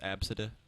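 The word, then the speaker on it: Abcde: Or the people who name their children spelled ABCD, pronounced Absida.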